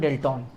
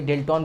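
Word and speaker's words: Dalton: करें तो था जॉन डाल्टन। असल में नाम होता है जॉन डाल्टन, और कोई डेल्टन भी बोलता है, तो प्रोनाउंसिएशन अलग अलग है, डाल्टन होता है।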